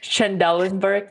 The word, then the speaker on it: Trendelenburg: Trendelenburg, yes.